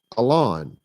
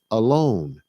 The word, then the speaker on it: Allon: And so a lot of people try to call me Alon. No, that is not how you pronounce that Hebrew word. That Hebrew word is pronounced alone, like the word alone.